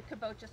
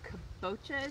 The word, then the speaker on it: kabocha: I believe a kabocha is how you say it.